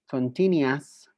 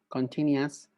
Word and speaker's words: continuous: Simple, continuous, perfect, and perfect continuous. All right? Simple, continuous, perfect, and perfect continuous. Es importante mencionar que la sílaba US se pronuncia como AS, continuous, perfect continuous.